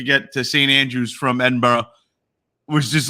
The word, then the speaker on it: Edinburgh: all that good stuff they're called Edinburgh it's Edinburgh you say it like that so he throws something